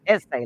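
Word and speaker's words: assay: a y essay but it's pronounced essay like a school essay office and so this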